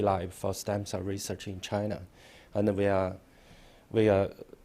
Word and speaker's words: Qi: pronounce Chinese people's name my name is in Chinese is so you can call me Chi my personal name it's